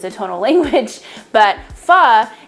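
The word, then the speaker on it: phở: a tonal language but pha is typically pronounced so you kind of go up with your inflection i obviously don't am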